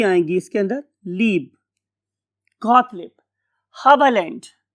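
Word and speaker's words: Haberlandt: Got leap, ये दो ही आएंगी इसके अंदर, लीब, गॉटलिब, हबलैंड। इस वाले केस में हम ई आर को आ बोलते हैं, गॉटलिब, हबलैंड। ये जर्मन लैंग्वेज में इस साइंटिस्ट का नाम।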